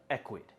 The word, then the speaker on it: Ecwid: That's Ecwid, pronounced Ecwid.